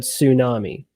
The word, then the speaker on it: tsunami: out but because like if you saw the word tsunami you would not pronounce it with a t at the beginning.